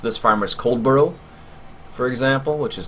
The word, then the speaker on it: Coldborough: Depending on the exact region of UK accent, you can really de-emphasize the second syllable, so it's almost becomes Coldborough.